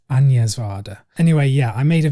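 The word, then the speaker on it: Agnès Varda: so now I know it's not arcing years of ardor it's onions water anyway yeah I made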